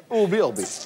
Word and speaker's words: Urbi et Orbi: C'est du latin, figurez-vous. Bien Et le c'est- prononcer. Urbe, urbe. Urbi, Orbi. Voilà.